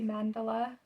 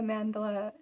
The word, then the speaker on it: Mandala: like mandala, like the Mandela, hang on, like the Nelson Mandela effect. So they say it like the Mandela, like there's an E-L-A, but here, let me show you guys something.